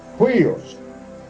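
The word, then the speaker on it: υἱός: Se escribe a sí mismo, huios. Así como suena, huios.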